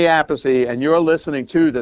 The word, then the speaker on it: Appice: Hey, everybody, this is Vinny Appice, not Appice, not Appice, but Vinny Appice, and you're listening to the Nothing Shocking podcast.